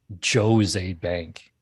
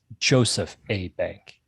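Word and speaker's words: Jos. A. Bank: name of the sponsor no it's not jose bank the joe's is short for joseph it's joseph a bank oh yeah well uh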